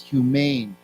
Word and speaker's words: humane: but you add a e at the end so it's Humane um like for example